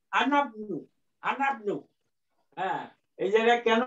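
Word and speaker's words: أنا ابنُ: হ্যাঁ, এটা বাদ যাবে, এইটার উচ্চারণ হবে আনাবনু, আনাবনু।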